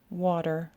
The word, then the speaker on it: water: Most people say this word water instead of water. So, usually water with a D sound.